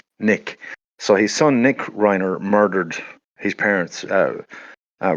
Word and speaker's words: Reiner: But um like just to keep it topical, we recent case here of um the murder of Rob Reiner. I presume I think I'm I'm pronouncing that right.